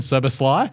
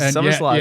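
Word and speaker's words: Szoboszlai: So Liverpool have made new signings with McAllister and Soboslai. Oh, he's Soboslai. Bang. Wrote it down and how to sound it out. This is how you do it, stats guy. Phonetically, I like that. Yeah. Soboslai.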